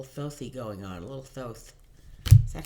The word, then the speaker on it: Thoth: going on a little Thoth is that how you pronounce it I looked it up on was it Google or something how to pronounce those and they said those so that's what I'm sticking